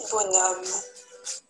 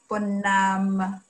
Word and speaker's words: bonhomme: Voici le dessin d'un petit bonhomme. Voici le dessin d'un petit bonhomme.